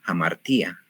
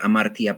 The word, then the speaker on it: hamartía: Algunas veces lo van a escuchar amartía porque, bueno, son la pronunciación que yo sigo y que trato de llevar es una pronunciación más antigua y hay una moderna, un griego moderno.